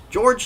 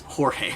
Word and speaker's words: Jorge: Jorge imana and Harper George loves his sister or George wow it's Jorge I'm going to pronounce it George all the time though but it's Jorge loves his sisters but